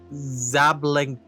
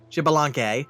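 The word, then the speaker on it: Xbalanque: This was how Zablanc probably pronounced that wrong. Shibelanc. Shibelanc. That's what it was.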